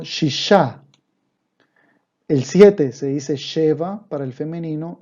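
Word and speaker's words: שבע: El siete se dice sheva para el femenino y para el masculino shiva.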